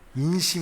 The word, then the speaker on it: 인심: 수가 있겠죠 또 곳간에서 임신 난다 라는 발음이 이렇게 전화 버튼 안되죠 곳간에서 임신이 아니라 인심 입니다 곳간에서 임신 난다 게